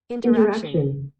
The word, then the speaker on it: interaction: Interaction. Interaction. Shows you the strong syllable there.